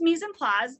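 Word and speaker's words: mise en place: misen plos it looks like mice and place pronounced mies and plaz is the french phrase and it means to put things in their place so i always say misen plaz misin place and at my house my kids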